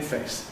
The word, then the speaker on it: face: We nowadays have the same in face and death.